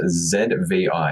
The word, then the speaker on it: Zvi: is a blogger called zvi so i believe it's pronounced as v yeah i think it's